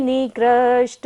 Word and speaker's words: निकृष्ट: गाढ़म ब्रहन निगट निगट कोटि निकृष्ट जंगाः। निकृष्ट में कहाँ है, मूर्धन्य श है, तो मूर्धा से उच्चारण करेंगे।